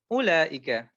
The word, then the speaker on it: أولئك: And when it comes to أولئك, you don't pronounce this wow. So this wow here, you don't pronounce. So it's أولئك.